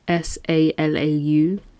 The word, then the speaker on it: Salau: So the story of Oluwatoyin Salau, I'm not sure how to pronounce her name, my apologies. It's Salau.